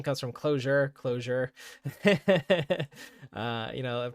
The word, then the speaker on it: Clojure: the name comes from closure closure uh you know pronouncing it I suppose with a hard uh J there uh but kind